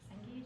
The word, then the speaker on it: Cengage: Cengage, is that how you say it?